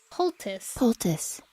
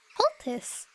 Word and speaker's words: poultice: Poultice. Okay, I've been pronouncing it wrong. Poultice.